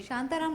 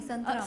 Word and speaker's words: संतराम: शांताराम नहीं है, संतराम। संतराम, sorry, I एम so sorry, pronunciation.